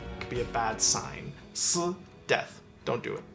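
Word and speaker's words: 四: So to be aware of that, the number 4 is pronounced si in Chinese, and the word for death is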